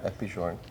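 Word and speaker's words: F.P. Journe: These are, and if I say it wrong, you tell me, FP Journe? Yeah, FP Journe.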